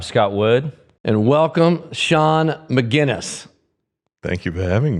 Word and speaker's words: Magennis: Wood and welcome Shan mcginness thank thank you for having me rhymes with Guinness that's right a good